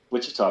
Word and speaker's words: Wichita: Wichita, that's right. How do you guys say it? What did I say? Did I say something different? I don't think so. You for sure said Wichita.